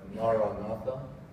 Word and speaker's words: Maranatha: The word I would recommend again is this beautiful and ancient Christian prayer, Maranatha, 4 syllables.